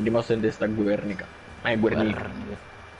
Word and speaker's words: Guernica: Ghe, perché gue è ghe.